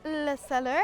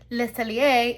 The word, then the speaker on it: Le Cellier: And now we are here at the Canada Pavilion at Le Cellar. Hi, this is from home, letting you know that despite how proudly I stated it, it's Le Cellier and not Le Cellar.